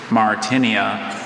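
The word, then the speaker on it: Martynia: Martinia. Martinia. Martinia. M-A-R-T-I-N-E-I-A. Martinia is spelled M-A-R-T-Y-N-I-A.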